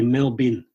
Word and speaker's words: Melbourne: on Melbourne Melbourne in Australia's just say millbin Melbourne Melbourne Melbourne Melbourne that's it okay it almost sounds like Meldrum later on there's quite